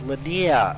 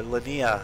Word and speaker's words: Lanier: a few people at I was pronouncing it wrong in the last video that I did so Linea is apparently the way that this is meant to be said so we're going to